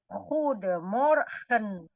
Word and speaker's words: goedemorgen: Ingat-ingat ya, huruf G bahasa Indonesianya dibacanya seperti ada di serak. Jadi Goedemorgen.